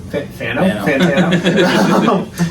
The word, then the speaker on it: Fantano: I think is what Fano called it. Fantano. Forgot a couple syllables in there.